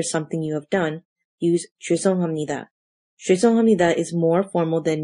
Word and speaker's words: 죄송합니다: This phrase is pronounced as 죄송합니다. 죄송합니다.